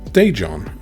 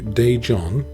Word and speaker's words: Daejeon: Daejeon, okay. Daejeon. Sure. Alright, that's pretty much how I have been pronouncing it.